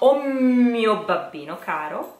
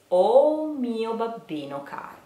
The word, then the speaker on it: O mio babbino caro: soft and short so be careful because it's not all mio babbino Caro which is not elegant at all but it is o mio babbino Caro or o mio babbino